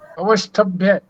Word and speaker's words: अवश्य: शब अवश अव अव अवश्य अवश अवश्य य जो आधा स है इस पर हमें पूरा जोर देना पड़ेगा पूरा स बनाना पड़ेगा तभी जाकर के इसका सही उच्चारण होगा अवत ताम दृष्टि अवत